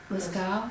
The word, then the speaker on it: Lascaux: How do you pronounce that? Lascaux, Okay.